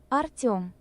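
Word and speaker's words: Артём: Артем. Artum. Артем. That's how you say his name.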